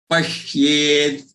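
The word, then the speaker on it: पश्येत्: Pashyed, pashyed, pa, half sha, joined with ya with a vowel of ye, a, pashyed, pashyed, and the last the is half the.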